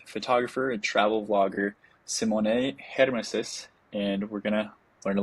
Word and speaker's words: Germishuys: Yes, Simoné Germishuys, yeah. So it's perfect. Awesome. Some people pronounce they do not get the surname, good. They always say Geldenhuys or something, but yeah.